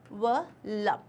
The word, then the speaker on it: envelope: इसका जो correct pronunciation होता है वो होता है envelope. Envelope. Envelope. So it's not lup, envelope, it's lop.